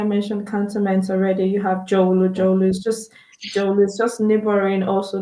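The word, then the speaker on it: Dzorwulu: You have Jolu. Jolu is just neighboring also the airport residential. It's not far away from airport residential. Because Jowolu. Jolu. Yeah, Jowolo.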